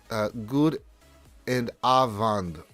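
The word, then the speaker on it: goedenavond: It means good evening and pronounce good and avond.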